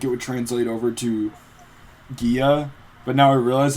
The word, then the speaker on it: Gia: communicate to them that it's pronounced like a J. And even then, there was some British woman in the library who pronounced it like Gia, so I was like,